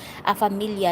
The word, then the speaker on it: famiglia: Familia Silent G pa, Bigcast dito si Italia. Okay. Kaya nga, naririnig ko kasi kay General na pag nagsabi siya, Familia Host. Familia, sabi niya. Silent G pala siya pag bigkas dito sa Italia.